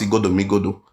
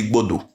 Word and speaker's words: Igodo: They cannot even pronounce Igodo. Some can even say Igbodo because they cannot pronounce it.